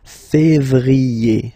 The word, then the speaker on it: février: Okay, remember when you have this accent aigu on the top of then you pronounce it E, okay?